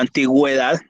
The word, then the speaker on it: antigüedad: O sea, cuando tengo los dos punticos encima de la U, debo pronunciar la U, si no se me pierde.